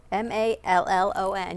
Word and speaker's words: Mallon: You spell it? You saying the last name correct? M-A-L-L-O-N.